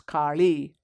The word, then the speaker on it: Kali: And as Kali, or in South India, we use the retroflex sound La, so she's Kali.